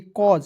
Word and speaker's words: cause: उसके बाद देखिए CAUSE, तो इसे पढ़ेंगे कॉज, सी का क, AU का उच्चारण अ के रूप में, और आपको याद रखना है SE किसी भी वर्ड्स के अंत में रहता है ना, इसका उच्चारण ज के रूप में करते हैं, हो जाएगा कॉज, ठीक है ना जी।